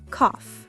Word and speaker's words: cough: Yes, and pronunciation tip, the word cough sounds like cough, not cow.